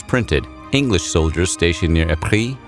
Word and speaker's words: Ypres: English soldiers stationed near Ypres, which they mispronounced as Wipers, in Belgium found an